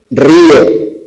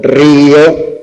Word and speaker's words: río: Rió del verbo reír, él rió a mandíbula latente frente al sustantivo río, que tiene dos sílabas, o la primera persona del presente indicativo del verbo reír. Yo río, que suena igual que el sustantivo. Ahí el acento no sirve para distinguir.